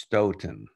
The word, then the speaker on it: Staunton: I was told early on in the first session that it's pronounced Stoughton, but I will remember that henceforth.